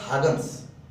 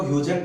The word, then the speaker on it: Huygens: हॉगन्स principal, actually इसको pronounce किया जाता है हॉगन्स, ठीक है, चलेगा। कोई इसको ह्यूजन पढ़ता है, एक्चुअली इसका प्रोनाउंसिएशन हॉगन्स होगा, ह्यूजन नहीं।